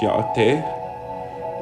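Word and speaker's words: Yáʼátʼééh: We have hello, which is pronounced ya'ate.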